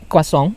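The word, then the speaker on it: croissant: kita cobain yang pertama kosong atau tulisannya croissan Tapi bacanya katanya Kosong gitu Mau yang mana saja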